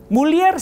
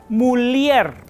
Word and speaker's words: mulier: de latín mulier molis mulier se escribe con doble l pero a diferencia del español no suena como una doble l o una ell es decir no suena y sino una l marcada l Entonces se diría